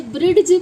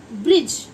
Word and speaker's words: bridge: जैसे अब देखिए BRIDGE, इसे ब्रिड्ज पढ़ेंगे या क्या पढ़ेंगे? क्या प्रोनाउंसिएशन है इसकी है ब्रिज। तो देखा आपने, डी की कहीं भी वॉइस नहीं आ रही है, डी हमेशा साइलेंट हो गया। जी से पहले अगर डी आ रहा है तो वो साइलेंट हो जाएगा, ठीक है।